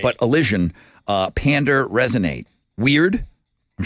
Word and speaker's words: allision: would go that's Elion I said it wrong alision like Collision but allision alision so means it's a version of a collision uh what is it